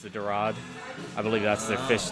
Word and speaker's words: dorade: It's pronounced the dorade.